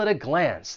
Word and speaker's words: at a glance: And for pronunciation, once again, that T in at, I'm gonna pronounce it with a flap T, and then I will link it with the vowel sound in that article, at a glance, at a glance.